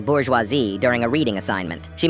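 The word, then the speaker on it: bourgeoisie: But one day, she picked on me for mispronouncing bourgeoisi during a reading assignment.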